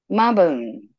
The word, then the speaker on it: Mabon: yours out the way maon it's ma like m a bone bo b u n